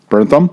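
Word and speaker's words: Bernthal: my god i can't say his name jen burntham burntham there you go thank you maddie will be the guy's name he will pronounce the guy's names when i can't do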